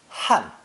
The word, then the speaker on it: 旱: 干 also serves as the phonetic, giving this character the pronunciation of fourth tone. 旱, 旱.